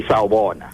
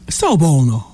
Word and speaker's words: Sawubona: Or maybe when you meet somebody in the street, you say Sawubona. Sawubona. Yeah, that's how you greet. Sawubona.